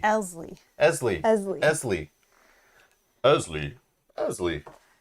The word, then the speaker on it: Eztli: Eztli, that's it? So I just have to think of Leslie. Ignore the T. Ignore the T. Elsley. Eztli.